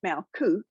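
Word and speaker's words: Malkuth: fact research revealed that it is indeed pronounced malcoot and it is spelled exactly as i've written it in my notes but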